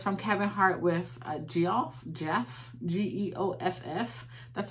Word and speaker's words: Geoff: um and it's from kevin hart with geoff jeff g-e-o-f-f that's how i have to do sick